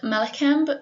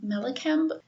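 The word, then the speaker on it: Mallakhamb: of today was called malacamp it i i probably butchered that because it is spelled m-a-l-l-a-k-h-a-m-b melakamp so they did this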